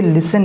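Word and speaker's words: listen: नहीं होना है, ये लिसन ही है। कुछ मेरे स्टूडेंट्स इसको कुछ गलत तरीके से इसको रीड आउट कर रहे थे, तो ये टी इसके अंदर साइलेंट है, ये इट्स लिसन, सुनो, लिसन।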